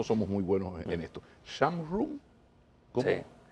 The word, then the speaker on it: Zhang Run: Shamrun. ¿Cómo? Sí. En chino es Changrun. Changrun. Sí, pero en el extranjero pocos saben pronunciar de esta manera, entonces usted pronunció muy bien.